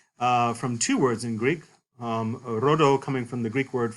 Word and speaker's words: rho: This is borrowed from Greek ultimately, from two words in Greek, rhodo coming from the Greek word for rose and dendron for tree, a rose-like tree.